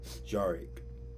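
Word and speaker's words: Jarec: My first name is is J A R E C. Jarick. That's how it's pronounced.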